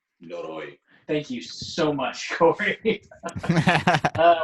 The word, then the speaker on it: Noroi: Noroi? Noro? Noroi. Noroi.